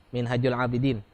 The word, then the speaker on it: Minhajul Abidin: Ha besar, Minhajul Abidin.